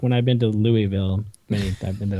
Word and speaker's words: Louisville: true that is true if you ever want to say it right just eat a handful of marbles and then say it close there you go that's